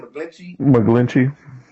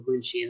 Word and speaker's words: McGlinchey: McGlinchey.